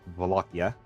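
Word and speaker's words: Wallachia: of uh Volkia uh which is spelled like Walachia but it's Volkia.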